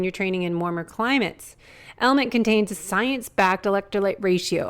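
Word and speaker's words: LMNT: our sponsors Ln element it's spelled l MNT but pronounced element if you haven't heard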